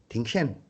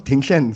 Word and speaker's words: Dingzhen: His name was Tenzin, but his official name when it came out, it's spelled as Dingzhen, Tingshen. So I mean there is elements of Tenzin, but it becomes Tingshen.